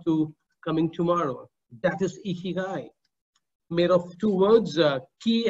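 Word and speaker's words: 生きがい: Well, it is pronounced as Ikigai. Ikigai.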